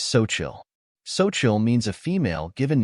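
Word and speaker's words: Xochitl: in English it is spelled as XO c h TL the correct pronunciation of this word is soil soil means a female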